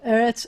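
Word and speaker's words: אֶרֶץ: the vowel the vowel so whenever you have a segolate um the first syllable is always the accented syllable and eretz of the two as so eretz and they're going to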